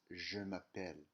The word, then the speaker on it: je m'appelle: So the expression for my name is in French is je m'appelle.